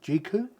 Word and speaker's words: Jeecoo: So this comes from a company called Jeecoo. Jeecoo? I think that's how you pronounce it.